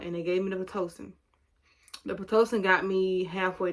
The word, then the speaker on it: Pitocin: That's how you say it, Pitocin, until the doctor came, and the doctor didn't come till like what, 8 o'clock that morning, next morning.